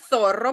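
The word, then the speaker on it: zorro: А у них це зорро. По-перше, отак от шипілявенько, а по-друге, це означає лисиця.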